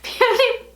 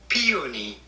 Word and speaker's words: peony: And the second is the Soon Skincare Peony Foot Masks.